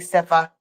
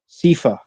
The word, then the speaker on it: Sifa: Sifa. I've heard I've called him Stefan. I've called him Sofa. I've called him Sif. I took me like probably a good week to get Sifa right.